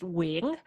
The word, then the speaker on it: Nguyen: It's Nguyen. So there's a Vietnamese like tone at the end there.